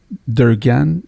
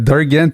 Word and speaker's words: Derganc: Durgan? Je le dis pas comme il faut encore. Hein? Durgan. Alors, Durgan, parce que ça s'écrit D-E-R-G-A-N-C. On ne prononce pas le C.